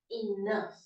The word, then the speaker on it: enough: Other examples of GHF sound is enough.